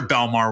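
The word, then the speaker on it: Bellmawr: central New Jersey but the other belmare which is spelled completely differently which is B LL m awr is in South Jersey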